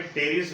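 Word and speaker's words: Pteris: ये जो प्लांट है इसका नाम है टेरिस विटाटा, फिर से पी साइलेंट है।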